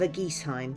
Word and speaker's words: Eguisheim: the disney-like Perfection of a geese Heim apparently that's how you say it some of the not